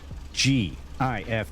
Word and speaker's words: GIF: foxtrot K gif yep that's a hard G I'll defend it to the death anytime those three letters are together it's GIF GIF all the way all the way okay